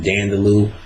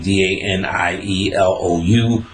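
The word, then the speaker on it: Daniélou: Ecstasy Traditions of Shiva and Dionysus by Alan Dandalou, Alain, last name Danielou, or Dionysus, because it's pronounced Dionysus sometimes and Dionysus.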